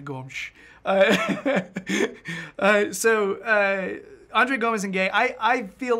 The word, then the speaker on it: Gomes: Andre Gomes. Apparently that's the Portuguese pronunciation. Now, if you're Brazilian Portuguese, it's just Gomes. But Gomes. No one's doing it right. I'm just going to keep saying Gomes, though, because I sound